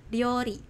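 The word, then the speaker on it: 料理: Lalu ini memasak nih, memasak itu dalam bahasa Jepangnya ryori ya, ryorinya ini panjang ya minasang.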